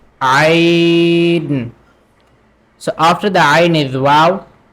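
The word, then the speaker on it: ع: So the Ain we pronounce from middle part of the throat. So we say Ain.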